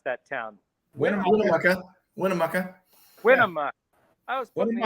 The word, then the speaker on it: Winnemucca: How do you pronounce that town? Winnemucca.